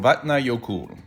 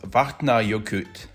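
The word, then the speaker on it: Vatnajökull: to pronounce for example vatna yokul is pronounced vahtna yokut or something like that so pronouncing names the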